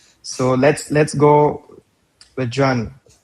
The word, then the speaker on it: Jeanne: Jean or sometimes uh people would mispronounce my name as Jean so it becomes a homonym search and gene.